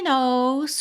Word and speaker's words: knows: She knows. She knows. Depois dessa aula, você nunca mais vai esquecer que o k da palavra no é mudo, ok?